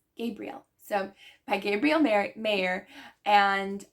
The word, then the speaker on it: Gabrielle: It's not Gabrielle, it's Gabrielle.